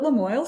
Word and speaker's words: Lamoille: So I was like, hey, I love a good rhyme. Let's call it Lamoille Soil.